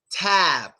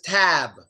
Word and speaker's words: tab: But what's interesting is that in American English, we tend to not pronounce the last sound in the word. We tend to not really pronounce it. So basically, since we don't say tab, what do we say?